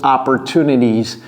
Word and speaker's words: opportunities: Vous voyez comment je prononce opportunities. Si vous n'avez pas vu ma vidéo sur les 4 T américains, allez regarder cette vidéo parce que s'il y a 2 T, opportunities. Oui, opportunities. Ils sont prononcés de différentes manières.